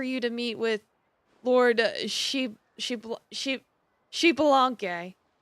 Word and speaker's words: Xbalanque: to meet with Lord Xbalanque. The X is pronounced as an SH sound.